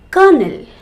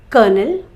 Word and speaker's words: colonel: must have heard of counselors so council council kernel c-o-l-o-n-e-l kernel a rank of an officer in the army colonel and k-e-r-n-e-l colonel the soft part inside a nut kernel dying d y ing dying he is dying